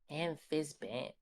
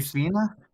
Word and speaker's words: Amphisbaena: Amph Amphisbenia? Oh, the How do you Amphisbaena? Yeah, that. how do you spell that?